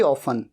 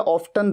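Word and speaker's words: often: You would be going to Mussoorie अक्सर के लिए वेरी ऑफन, या फिर अक्सर के लिए ऑफन या ऑफ्टन, दोनों तरीके से प्रोनाउंस किया जाता है।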